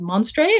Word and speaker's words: Monstre: And he's also an author of an awesome, like, grim sci-fi book called Monstre. Is that the correct pronunciation? That is correct. It's French for monster.